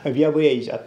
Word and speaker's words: Białystok: です星読みにくいんですけれどもビア va じゃっですねもしくは鼻あご a ちゃって